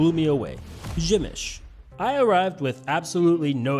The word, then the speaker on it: Przemyśl: Really, the only tricky part of visiting was figuring out how to pronounce Pzemysl. Nope, it's Przemyśl.